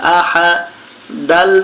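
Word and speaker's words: أحد: হামজা জবর আহা জবর হা আহা। দাল দুই পেশ দুন, আহাদুন।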